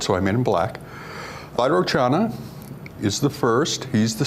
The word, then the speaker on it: Vairocana: Actually, I think that's supposed to be pronounced Vairocana, but Vairocana is what we call him in the States.